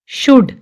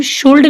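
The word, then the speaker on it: should: काम, balm, palm, walk, talk, Chowk, semen, Fock, yoke, almond, शुड, इसको हम शुल्ड नहीं बोलेंगे, शुड, कुड, वुड, L silent है।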